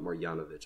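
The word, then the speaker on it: Marjanović: right no I didn't these yanovich are so difficult to pronounce so boban marianovich I believe that is yes marianovich that's who it is I said it right the first time and then I mixed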